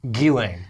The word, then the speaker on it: Ghislaine: Ghislaine.